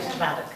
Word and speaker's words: Szwarc: Schwarz, pero él lo pronuncia mejor, porque de verdad sería Schwark. O sea que vos lo pronuncias mejor.